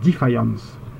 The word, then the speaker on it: Defiance: c'est ceci défiance alors ceux qui regardent la série télé prononce ça en français ils disent defiance mais moi j'aime pas moi j'aime bien dire défiance alors tout de suite